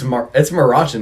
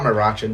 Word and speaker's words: Maruchan: It's Marachan, dude. It's not Maruchan. That's such an American way to say shit.